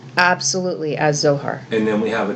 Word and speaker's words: Zohar: first word is zohar it is it's it's pronounced absolutely as zohar and then we have a dimensional passage and